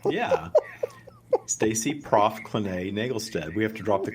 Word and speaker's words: Naglestad: going to mess up your name did i nagelstead it right right my good friend whose name i can't pronounce that's okay it's my name yeah stacy prof clinay nagelstead we have to drop the though right